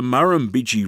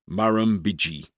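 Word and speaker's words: Murrumbidgee: only about Ganduy because the Muramiji River which flows through the town has four syllables.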